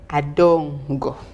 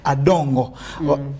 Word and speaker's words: Adongo: My surname is called Adongo. Okay. The O behind. Emphasize. Okay. So emphasis on the O at the end of the G, after the G, Adongo.